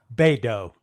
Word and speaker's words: Beidou: Think of Play-Doh, Beidou.